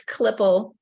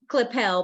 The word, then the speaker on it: Klippel: last name and it's yeah it's clipple it looks like it's clippel but it's clipple oh okay got clipple